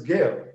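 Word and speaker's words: Guerre: the return of martin gale uh the french pronunciation is gail the spelling is g-u-e-r-r-e martin gear so modern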